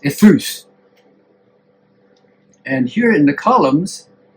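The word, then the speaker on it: εὐθύς: It's an adjective that in Greek is pronounced ethus.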